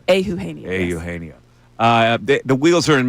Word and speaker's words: Eugenio: Yeah, Eugenio.